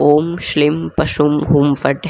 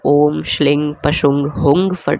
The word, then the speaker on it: ॐ श्रीं पशुं हुं फट्: यह 'ओम श्रीं पशुम हम फट' है, इसका उच्चारण बिल्कुल इसी प्रकार करना चाहिए। बहुत से लोग इसका जाप 'ओम श्लीम पशुम हंग फट' के रूप में भी करते हैं।